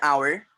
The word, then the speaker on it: hour: Means ultimately H is silent.